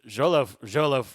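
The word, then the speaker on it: Xolo: Jolo, I said it right, Jolo?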